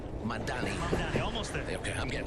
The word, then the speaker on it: Mamdani: And Mamdani, I said it right? Mamdani, almost there.